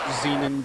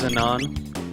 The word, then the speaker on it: Zenan: they are and crap zenan Bridge yeah I'm sorry it's pronounced Zenon the xenan it's Xenon